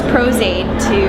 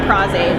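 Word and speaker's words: Pros-Aide: and then I use Prozaid or Prozaid, they pronounce it either way.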